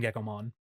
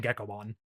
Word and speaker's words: Gekomon: It just sounds like the word gecko.